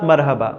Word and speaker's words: مرحبا: The translation of hello in Arabic is marhaba, not marhaba.